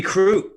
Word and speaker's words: Crute: Jimmy Crute.